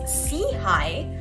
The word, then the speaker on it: SIHI: initiative SEI for short pronounced as SE High which means upward and